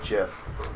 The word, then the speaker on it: GIF: for jeff i thought jeff's a peanut butter that's well yeah but people pronounce it jiff i don't know why i think the official pronouncing is actually jeff well but i mean